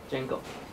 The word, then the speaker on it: Django: 那个其实那个 D 官方是说不发音的啦，所以其实念起来就这个是应该就是这个 D 就是当都没看到，然后就念起来应该像就是 Django 的音。